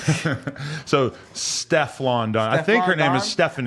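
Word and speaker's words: Stefflon Don: How do you pronounce it? So, Steflon Don.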